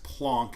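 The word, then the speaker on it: Planck: scientist named named max plonk is how you pronounce it so i it's kind of hard to say plonk so i just say plank so this is plank's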